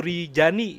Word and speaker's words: Rijani: Kalau nama formalnya Ibu Riani. Tapi kalau di Google itu Ibu Rijani ya, boleh Rijani ya tulisannya ya.